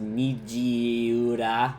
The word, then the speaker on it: Nijiura: Listen, I know it's pronounced Nijiura, but Nijiura. That's just that's just how I jokingly pronounce it.